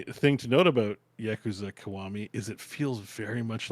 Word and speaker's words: Kiwami: Yeah, Kiwami.